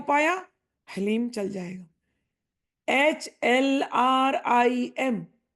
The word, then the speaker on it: ह्रीं: HLRIM, ये सही उच्चारण है। अगर उच्चारण करने में तकलीफ है तो HLEEM, ये भी उच्चारण चल जाएगा।